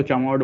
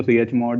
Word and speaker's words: chmod: chmod का मतलब है, कुछ लोग इसको चमोड बोलते हैं, मैं इसको chmod ही बोलूंगा। I guess चमोड he correct pronunciation है, लेकिन आप इसको chmod से भी याद रख सकते हो।